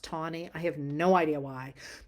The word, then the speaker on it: Taney: And, just so you know, it's it's spelled Taney to Y, and it's pronounced Tawney.